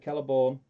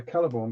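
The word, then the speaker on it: Celeborn: larry he does say does that mean that keller born are we celebrating are we team celebration caliber well we're caliburn because we say it right right okay it's fair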